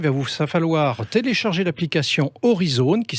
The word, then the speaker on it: Aurizone: Très simplement, il va vous falloir télécharger l'application Horizone, qui s'écrit AURIZONE.